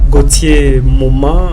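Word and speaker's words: Gauthier Moma: Nous avons l'habitude de dire aux invités Gautier Moma euh je sais pas si j'ai bien prononcé votre nom.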